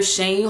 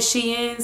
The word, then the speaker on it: SHEIN: doing a um tyler shane haul some people call it she in so to each his own or whichever way you want to pronounce it so those are you